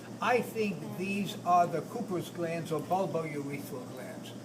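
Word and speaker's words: Cowper's: think these are the cus glands or bulbo urethal glands that's another name of the uh bulbo urethal glands are the coas glands which is spelled c WP R apostrophe s in other words you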